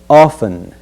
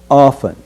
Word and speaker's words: often: in the next word we will omit the sound of T and pronounce the word as often often but we want to